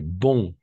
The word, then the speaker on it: bon: Et bon, attention. D'accord? On va prononcer bon. Bon.